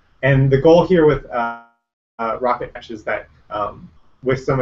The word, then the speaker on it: rkt: like tar and them it's shortened to rkt so it's three letters but it's pronounced rocket and the idea is